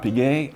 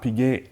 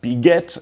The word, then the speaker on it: Piguet: was originally called Audemars Piguet and Compagnie, meaning that there were other partners, family members at the start. Anyhow, you don't pronounce the S, it's not Audemars, you don't pronounce the T, Piguet, and many do refer